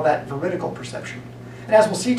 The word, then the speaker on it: veridical: It's not vertical, it's veridical. 4 syllables, not 3.